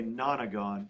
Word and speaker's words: nonagon: I know it looks like nono, but it's pronounced nana. It's a nonagon.